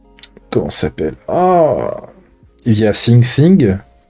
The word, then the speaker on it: Syncthing: Via SyncThing. Je le prononce très mal. SyncThing, pardon. Le TH, là. Ils font chier les Anglais.